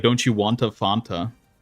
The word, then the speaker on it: Fanta: funa what's like Fanta I always said it font like almost like a fountain Fanta cuz um and I